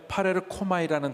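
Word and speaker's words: παρέρχομαι: 헬라어 단어에 파레르코마이라는 단어가 있습니다. 파레르코마이. 한번 따라 파레르코마이. 네, 굉장히 발음도 좋습니다.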